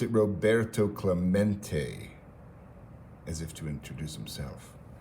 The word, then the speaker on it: Roberto Clemente: stands Roberto Clemente was his name and he pronounced it Roberto Clemente as if to introduce himself about to have